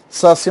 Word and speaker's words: Saci: Saci é uma palavra oxítona. A sílaba tônica é essa aqui e não tem acento, ok?